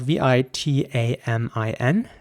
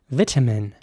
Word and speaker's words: vitamin: very strong t sound vitamin in american english the i at the beginning would be pronounced like an i so vitamin and the